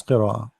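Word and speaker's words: قراءة: Now, how we pronounce the Hamza? Qira'a, qira'a. See here with the Hamza, if there is something jumping, it's not alif, it is qira'a, not not as alif like a, no, qira'a, qira'a, qira'a.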